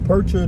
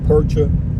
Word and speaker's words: Percha: 78609 and we are on our way to percher dam state park new mexico near truth or consequences not too far off the off of interstate 25 it's spelled p-e-r-c-h-a percher dam to state park smaller and you go